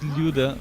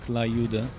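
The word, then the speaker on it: Люда: It's not like when you pronounce Luda, which is completely wrong, Lyuda, because you're actually saying a foreign word in the wrong way, but saying Tump and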